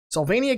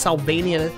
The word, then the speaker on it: Sylvania: I think it's Sylvania Castle, kind of like Transylvania.